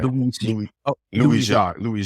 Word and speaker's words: Louis-Jacques: Is it Louis-Jacques or? Yeah, Louis-Jacques. Okay. I say it with a little bit of culture. You say it with Louis-Jacques. With a little French nuance.